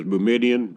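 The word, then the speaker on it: Boumediene: rasool ham Dan and boomerene God says bemidion I say boomerene the first lawyer that pronounced it in front of me said that's the one I'm stuck with uh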